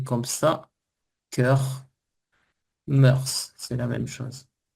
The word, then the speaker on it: mœurs: Cœur Murse, c'est la même chose. Ah mais on prononce S à la fin. Ici oui ici. Oui. Mot qu'on utilise qu'on utilise seulement au pluriel. les mœurs les bonnes murces les les voilà les